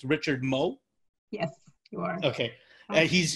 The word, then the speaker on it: Moe: you guys welcomed uh uh i hope i'm pronouncing his last name correctly it's richard moe yes you are okay he's you guys brought